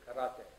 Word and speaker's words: karate: The right way to pronounce it is roll the R. You say karate.